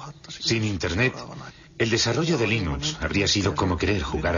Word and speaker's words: Linux: Bueno, yo Linux lo pronuncio Linux. Sin embargo, si fuese Linus Torvalds, no hay duda de que lo pronunciaría Linux. Claro que si uno es de la costa oeste de los Estados Unidos, lo más seguro es que lo pronunciaría Linux. Pero a Linus Torvalds le importa un bledo cómo pronunciéis Linux siempre y cuando lo utilicéis. Empecé a jugar con Linux